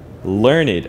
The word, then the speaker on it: learned: Learned, learned, a voiced second syllable. So 첫 번째 음절 있지만 원래 두 번째 음절 발음 안 하잖아요. Learned, I learned it. 그러면은 음절 하나예요. 원래 영어에서 I learned it. 근데 이거는 learned, learned, id, learned 이라고 발음하면은 일단 맞춤법은 똑같은데 He's a learned man.